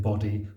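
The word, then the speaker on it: bodhi: the text aloud that the bow of bod is pronounced not as in body but as in Abode isn't that sweet in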